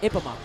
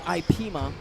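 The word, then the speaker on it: Ippema: 12 is Isaac Ipema. Isaac, okay, yes. Very good. I think it's Ipema. I thought it was Ipema, but it's I-P-P-E-M-A. That's how it's spelled. So Ipema.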